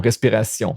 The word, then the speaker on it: respiration: But it's not tion, it's sion. Okay? Sion, respiration. So make sure you take your French accent all the time, especially when you encounter one of these words.